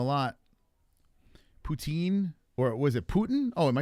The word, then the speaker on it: poutine: So, it is poutine, but French pronounce it differently.